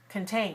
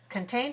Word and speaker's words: contain: to this word contain contain what contained has two syllables which one has a schwa contained syllable 1 ok watch carefully contain contain that right the first syllable is short and weak so that one is